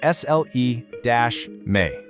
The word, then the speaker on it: Sljeme: Sljeme, pronounced S-L-E-Me.